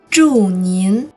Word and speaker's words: 祝您: Here's how you pronounce it with the tones. 祝您, 祝您。